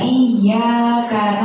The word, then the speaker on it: iyyaka: Di situ ya-nya bertasydid. Iyyaka. Iyyaka. Nah, keseringan itu kita bacanya bukan iyyaka, tidak kita tasydidkan. Jadi cuma iyyaka biasa. Sedangkan itu bertasydid. Jadi iyyaka. Karena itu bertasydid ya-nya.